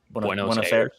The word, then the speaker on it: Buenos Aires: SBJ, can you pronounce that for us? Because apparently I do it wrong. Buenos Aires. Buenos Aires?